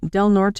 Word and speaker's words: Del Norte: The stepmother, Judy Day, is Rod's second wife, lived in Del Norte, am I pronouncing that right? Yep.